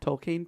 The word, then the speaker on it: Tolkien: been the rhyming to remind the professor, pronounce his name, rhymes with peen, rhymes with peen. Tolkien peen.